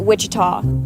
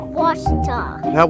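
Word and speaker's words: Ouachita: for wasita Baptist University back in Texas everybody pronounces it Witchita but really it's was was was how would you pronounce it wash it's was Baptist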